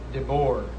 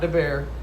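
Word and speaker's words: Deboer: From Dbor, not Debear, Dbor. Sorry, I've been saying it wrong.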